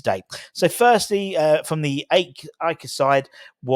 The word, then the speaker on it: AEK: But that's how you pronounce it properly, AEK and PAOK.